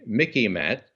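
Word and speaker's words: MICIMATT: Now it's broadened out to the Mickey Mat. That rhymes with Mickey Mouse, so you can remember it.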